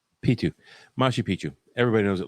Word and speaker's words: Machu Picchu: And according to the pronunciation, the C I will help you with the pronunciation. is not it's a silent C, so it's Machu Picchu. Or P2. Perfect. P2. It's a T sound.